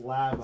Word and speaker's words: Labo: It's pronounced Labo.